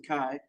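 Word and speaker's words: MacKay Shields: we hire maai Shields it's pronounced maai maai Shields as our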